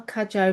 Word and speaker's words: Cudjoe: Today we are joined by Danielle Kajjo Macowski. I'm hoping that I have pronounced your surname correctly.